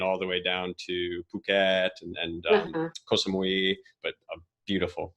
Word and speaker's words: Phuket: went all the way down to Phuket and Koh Samui, but beautiful, beautiful.